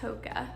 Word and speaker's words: Hoka: Hoka video I think I called it hookah but pretty sure it's pronounced Hoka I finally got new